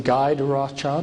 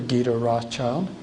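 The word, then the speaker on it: Guy de Rothschild: harriman and this is you can pronounce his name guy to rothschild or guido rothschild if you want a more french pronunciation gita i believe that from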